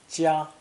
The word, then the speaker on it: 夹: It may also be pronounced first tone, 家.